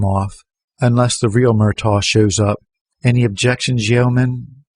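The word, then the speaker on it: Murtagh: said and his voice broke on the second syllable owen murtaugh murtang no registration the wayne checker shrugged next it's murtaugh m-u-r-t-a-g-h owen murtaugh of 738 morrissey protest the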